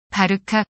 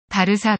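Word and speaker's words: Barça: 줄여서 바르사 라고도 부르는데 발음할 때의 주의해야 한다 c 표기가 없는 언어에서는 모양이 유사한 알파벳 c to 싶을 대체하는 경우가 많아 박하 라고 표기되는 경우도 흔한데 이것은 단순히 표기 상에 난 점 으로 인해 일어나는 현상일 뿐 발음은 바르카 가 아닌 바르사 로 한다 주안 간 패드가 신문에는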